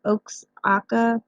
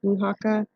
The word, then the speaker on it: Oaxaca: located in a little place in Mexico called Oaxaca it looks like it says Oaks akka but it's actually pronounced punakha so this was going to be the kind